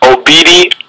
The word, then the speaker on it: Obidi: wrong please please do us a favor and pronounce it again it's obedi or Cru see but you got it right